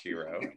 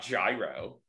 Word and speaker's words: gyro: i can tell you it's pronounced hero and not gyro how about you uh